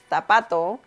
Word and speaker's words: zapato: For example, zapato or zorro.